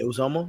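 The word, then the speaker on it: Uzomah: Then you got the 2 tight ends, Uzoma. That's how you say his name, right? Yeah, Uzoma. Yeah.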